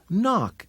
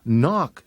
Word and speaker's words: knock: in the word me knock is a word that starts with KN and has a silent K if you knock too hard you can